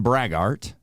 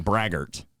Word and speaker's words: braggart: I'm Nick besner the character is a bothersome brag art or does that mean the one upper is in Prince oh gosh I literally couldn't figure out what the other one I said it wrong braggart yes you can say whatever you want that